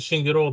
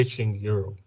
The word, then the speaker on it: Shingiro: You pronounce it Shingiro the Rwandan way, but you can say Shingiro if it's okay.